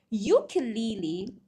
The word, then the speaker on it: ukulele: Ukulele, although the spelling starts with a vowel, the sound does not start with a vowel sound. Because if you pronounce ukulele, it kind of starts with ukulele, right? The beginning sound is consonant.